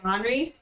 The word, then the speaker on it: Henri: Yeah, I call the girl Azalea, and I call the boy Henri, which is how you say Henry in French, like how you pronounce I like that.